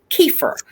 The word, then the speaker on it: kefir: right pronunciation correct it's kiefer the accent is on the first syllable you know steve i